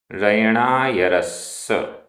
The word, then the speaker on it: रयणायरस्स: रयणायरस्स, रयणायरस्स, आधा सा पूरा सा।